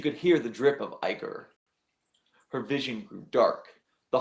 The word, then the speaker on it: ichor: She could hear the drip of ichor.